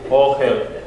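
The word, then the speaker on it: אֹהֶל: Yes, the aleph is silent, so you go to the O. It takes the sound of the vowel. O. Okay. O hell.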